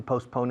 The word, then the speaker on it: postpone: Sin embargo, se pronuncia como si fuera posponer. La T es muda.